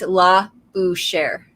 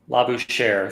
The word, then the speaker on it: Labouchère: So how you say it is Labouchère. Okay, so with a hard R at the end. Labouchère, like as in share, as in the performer.